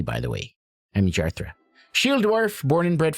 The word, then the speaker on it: Jarthra: keep saying her name Jarthra Jarthra Jarthra that's how it's pronounced J a r t h r a jarthra.